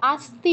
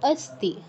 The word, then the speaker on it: अस्ति: আচ্ছা, আস্তি নয়, অস্তি। তুমি অকে আ উচ্চারণ করছো, ওটা একটু ঠিক করতে হবে। আস্তি নয় কিন্তু, একটু বলো এটা অস্তি।